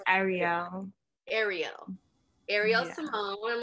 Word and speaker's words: Arielle: Arielle, right? No, it's Arielle.